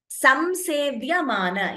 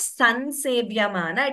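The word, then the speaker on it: संसेव्यमाना: Samsevya mana. Yes, it is not san sevya mana. It is samsevya mana. the anuswara is pronounced completely.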